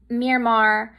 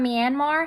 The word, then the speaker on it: Myanmar: I think it's pronounced Myanmar, the oil and gas pipeline.